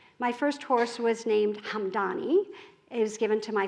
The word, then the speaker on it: Hamdani: My first horse was named Hamdani. It was given to my father by the Hamdani tribe. It conveniently rhymes with Mum Donnie, in case that's useful to you.